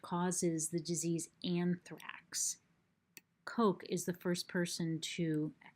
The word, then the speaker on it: Koch: start doing this okay Koch or perhaps the guys name is pronounced Koch it's probably pronounced Koch okay this guy was